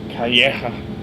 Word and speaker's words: Calleja: Is that how you pronounce it? Calleja. Calleja.